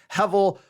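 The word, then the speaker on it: הבל: Again, if you look at it, it's Hebel. The B gets the V sound, so it's Hevel, Hevel.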